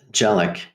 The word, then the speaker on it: Dzielak: Dzielak, or how do you pronounce your surname? Very close. Dzielak.